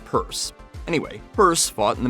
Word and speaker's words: Pierce: In the years before he was elected president in 1852, Franklin Purse, yes, it's spelled Pierce but pronounced purse.